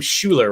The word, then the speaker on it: Shuler: say your last name Schuler right Schuler yeah like the horrible 90s quarterback I don't know if you knew Heath yeah what is his first what was his first name it was Heath Schuler he played for the